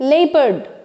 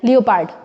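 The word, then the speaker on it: leopard: लियो ही होता है, बट यहाँ इट्स लेपर्ड, है ना। और स्ट्रेस किस पर है, लेपर्ड, ना कि पार्ट पे, लेपर्ड। और प्रोनाउंस क्या करते थे, लियोपार्ड। Very very silly and very simple, बहुत आसानी से ये मिस्टेक करते थे। सो इट्स लेपर्ड।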